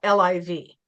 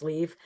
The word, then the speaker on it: Liv: have pointed out that her name is supposed to be pronounced leave.